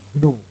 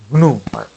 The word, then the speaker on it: GNU: So it is pronounced as the syllable with the hard G, GNU, GNU, like that.